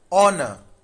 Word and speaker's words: honor: Then this is honor. Honor. H is not in that pronunciation.